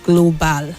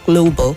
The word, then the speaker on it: global: So the last syllable there, where you have your AL, you don't say global, it's bo. The sound there is a weak sound, so you go global and not global.